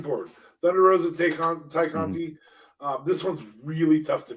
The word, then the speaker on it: Tay Conti: Sorry, Ty Conti. Ty Conti. Ty. Sorry, said it wrong. I have such a hard time calling her Ty, if only because I know that's how it's pronounced.